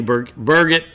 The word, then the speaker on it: Burgett: Stephanie Burgett. I finally figured out how to say her name correctly. It's like Turgett.